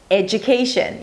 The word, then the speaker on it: education: Let's begin with 'education' You start with an 'eh' sound and then it's a 'dj' sound.